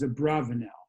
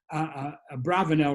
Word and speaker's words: Abravanel: said that he thinks the preferred pronunciation is a bravanelle but both are used so we can use those interchangeably i certainly can't cannot maintain that it should be uh a bravonel rather than a barbados